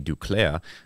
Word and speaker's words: Duclair: Besides Arthur Kaliev or Anthony Duclair, who are some other... Do you like the way I pronounce that?